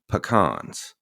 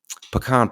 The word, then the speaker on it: pecan: Say it with me. Pecan. That's how you say it. Pecan. It don't give me none of this pecan garbage, right? That ain't it. It's pecan. Pecan.